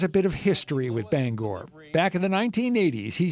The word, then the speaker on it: Bangor: There's a certain sensitivity about how you pronounce the name of this city. Yeah. It's Bangor. All right. Bangor. All right. All my life banger.